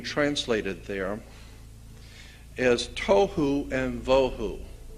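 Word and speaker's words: בֹהוּ: there is Tohu and Vohu. Pronunciation, it would be T-O-E-W-H-O, Tohu. That's not the way it's spelled in Hebrew, but that's the way it's pronounced. T-O-E-W-H-O, Tohu. Vohu would be V-O-E-W-H-O, Tohu, Vohu, waste, desolation.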